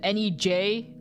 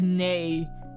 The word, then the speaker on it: nej: But if you fucking come to me with an N-E-J, I'm not gonna be expected to know that that's nay in a different language. I'm gonna be looking at that as nej, and I'm gonna be